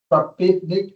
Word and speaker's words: Krapivnik: He is Stanislav Krapivnik.